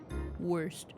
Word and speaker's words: Wurst: It's German. They say W like it's cut in half. Worst.